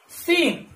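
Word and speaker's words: scene: ई एन ई, सीन, एस सी ई एन ई, सीन। सीन का मतलब होता है दृश्य, और यहां पर क्या जो सी है वो कैसा है, साइलेंट है, ठीक है। अब इसके आगे देखेंगे हम, अच्छा सीन का मतलब दृश्य समझ गए। अब अगला जो वर्ड है वो देखेंगे बी एल ए सी के, ब्लैक, देखिए ब्लैक। तो यहां पर जो सी है ये भी कैसा, साइलेंट है, और ब्लैक यानी काला, आपको पता है।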